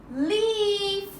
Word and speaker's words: leaf: L, E, leaf. Because E talks, A is silent. First vowel talks, second vowel is silent.